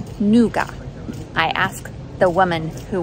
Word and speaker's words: nougat: Americans pronounce it nougat. Brits pronounce it nougar, and we're both wrong. The French pronounce it nougat. No T at the end, no R at the end, just nougat.